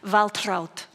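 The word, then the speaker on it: Waltraud: name by today's standards her name was waltr troud in German it would be pronounced valtr but it was a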